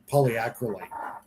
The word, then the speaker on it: polyacrylate: I can't pronounce that word right. Somebody help. Polyacryate. Acryate. Polyacrylate.